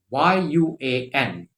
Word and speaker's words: yuan: currency in domestic china is uh known as yuan y-u-a-n yuan so it's a country with it's it's